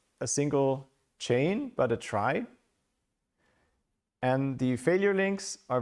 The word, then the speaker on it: trie: It's called a try. Uh pronounced is written as in retrieval but pronounced like in try.